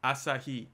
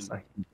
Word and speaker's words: Asahi: Asahi. It's all the syllables are the same duration. Asahi. Asahi.